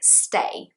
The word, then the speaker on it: stay: his speaking even better with a verb like stay stay is just one syllable because you've got silent s at the beginning so stay another classic mistake is that i will hear brazilians saying is hey like too no it's just stay in one go this also helps you